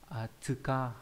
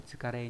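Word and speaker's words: 疲: Âm khương của chữ này là tsuka, đúng nhỉ? Tsuka không phải là tsukare nhé, ở đây bị sai sót một chút.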